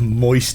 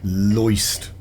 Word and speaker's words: Loist: Never heard of Moist Interactive. I think, sorry, that's probably my bad pronunciation. I think it's Loist.